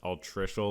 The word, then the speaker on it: altricial: I mispronounced altricial last time.